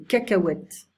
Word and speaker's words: cacahuètes: Les amuse-gueules, snacks, pour l'apéritif, les chips, les amandes, les noix de cajou, les cacahuètes, we don't pronounce the H, les noix, les olives noires, les olives vertes, le restaurant, le couvert, okay.